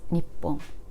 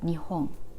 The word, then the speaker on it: 日本: for us to pronounce so this is nippon you don't have to remember this wall anyway and this kanji is also read as nihong nihong both are the official ways to say the country japan i usually